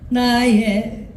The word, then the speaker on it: 나의: 무너지는 나의 가슴이 딱 같은 스타일로 나오잖아요. 따단 따단 이렇게죠. 그렇어요. 무너지는 나의 가슴이 할 때 애자가 한박 온박이잖아요. 에잖아요.에 그렇죠. 나의 의자를 에애에로 발음을 하는 거야.